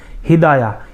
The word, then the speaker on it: ہدایہ: हिदाया।